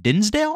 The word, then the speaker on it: Dinsdale: written by Orion uh Dinsdale I believe is how you pronounce his last name but there's tons of